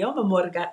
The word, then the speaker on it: llamo: I don't have anyone to talk to, so it's horrible, but me llamo Margarita, right? Me llamo. Me llamo Margarita. Yeah, it's double L. You gotta pronounce the double L harder.